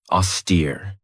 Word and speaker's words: austere: Another great word is this one right here, austere. This has 2 syllables, and the stress is on that second syllable with that long E sound.